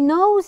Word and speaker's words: knows: more examples no he knows the answer so someone asked him a question and he knows the answer to it no we do not pronounce the k more examples night night